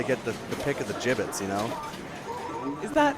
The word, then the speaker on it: Jibbitz: Yeah, got to get the pick of the gibbets. Is that how does one spell that word? I think it's like JIBBITS. It's like a ribbit, but like a frog, but like the bullfrog.